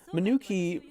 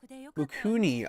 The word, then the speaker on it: Mukuni: Minuki... Oh, Mukuni. Oh, I've been saying it wrong the entire time.